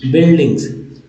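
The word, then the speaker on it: buildings: बाद भी है मेक बिल्डिंग्स यू यहां भी साइलेंट है बिल्डिंग्स कल ही मैंने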